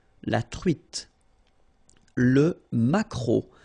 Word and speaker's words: maquereau: t, la truite, le maquereau, so technically this K, just pronounce it K, mac, maquereau, maquereau, alright, and then E, A, U, remember when you combine these three vowels, you get the sound O, maquereau, okay, and then